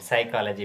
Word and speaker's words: psychology: Psychology, P is the silent.